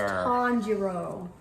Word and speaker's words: Tanjiro: a uh terror from from demons no it's tonjiro tonjiro buddy tonjiro that's not how i spell that well that's how it's spelled today commodore